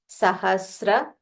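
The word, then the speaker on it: सहस्र: Sahasra. So Sa is half and Ra.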